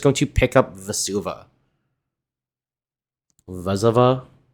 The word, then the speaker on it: Vesuva: Vesuva? How do you pronounce this card? I'm pretty sure it's Vesuva. Alright, Cody going to untap.